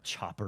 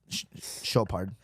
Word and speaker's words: Chopard: Choppered. And- Would you wear the choppered? Chopard. You ignorant motherfucker.